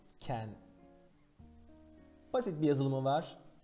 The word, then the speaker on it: 見: Miru. Çince okunuşu ken.